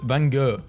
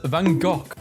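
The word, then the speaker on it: van Gogh: saying bof is pronounced Vango British saying it's pronounced vanov it's a Dutch name and Dutch pronounce it as vanok meta is threatening to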